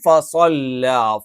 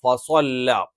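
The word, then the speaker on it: فَصَلَّىٰ: അതിനുപകരം ഫസ്വല്ല ഫസ്വല്ല ഫസ്വല്ല എന്ന് ഉച്ചരിക്കുമ്പോൾ നമ്മൾ വാവ് ഉച്ചരിക്കുന്നതുപോലെ ചുണ്ട് വൃത്താകൃതിയിൽ വരില്ല അതേസമയത്ത് സ്വ എന്ന് പറയുമ്പോൾ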